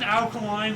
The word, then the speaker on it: Kaline: Uh it's 1980, Al Kaline, Duke Snider, Chuck Klein, and in Yawkey were inducted into the Baseball Hall of Fame. Is it alkaline like a type of chemical? Alkaline.